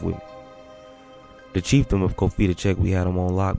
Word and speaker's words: Cofitachequi: Let's get that pronunciation one time. Cofitachequi.